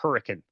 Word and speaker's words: Hurricane: And the city that you're referring to, which we also stayed in, is actually, as weird as it sounds, it's pronounced Hurricane.